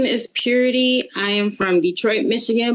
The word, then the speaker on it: Pyureti: sure okay so um it's pronounced purity spell p-y-u-r-e-t-i um and that name